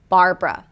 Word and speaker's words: Barbara: Not 'braa', but 'bruh'. 'bar-bruh'. Barbara.